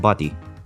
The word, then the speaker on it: body: people people from Paisley the pronunciation of the word body as in Anybody Everybody or indeed Paisley body which is used to describe a person from Paisley sounds very much like the word buddy thus giving birth to